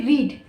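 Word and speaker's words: read: same ही आएगी spelling लेकिन हम जब पढ़ेंगे उसका प्रोनंसिएशन होगा तो पास्ट और पास्ट पार्टिसिपल में उसको हम रेड रेड पढ़ेंगे लेकिन स्पेलिंग सेम ही होगी जो स्पेलिंग रीड की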